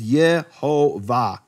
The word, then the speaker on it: Yehovah: What we discovered in B-52 which became the B-52 Bomber of Hebrew manuscripts is that when Yehovah is preceded by the attached preposition, it has the full vowels Yehovah.